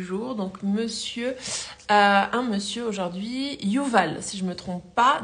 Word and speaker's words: Youval: Yuval, tu prononces très bien.